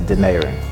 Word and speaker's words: Denaron: many times man like this is pronounced as dinero de in aro n so some people been